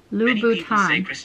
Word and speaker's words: Louboutin: I'm saying it right Louboutin but the correct way to say the creator of the red bottom shoes last name is Louboutin Lou Bhutan I had